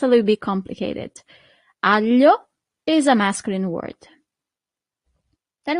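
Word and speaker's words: aglio: Here we have this combination of letter that for foreigners is always a little bit e hard to pronounce. Sorry. It's g a l i. That's the sound.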